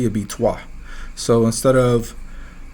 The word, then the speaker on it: trois: So some of those vowels, like the I, so the way it's spelled for 3, for in the French language is T-R-O-I. So it would be essentially the O and the I are silent, right?